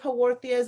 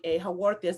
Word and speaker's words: Haworthia: So Haworthias, it's spelled Haworthia, Haworthias.